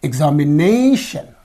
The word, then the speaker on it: examination: So where is this ION suffix? This suffix is in this syllable. Okay. What the preceding syllable means? This is ne. So here this ne receives the stress. Therefore you have to say examination.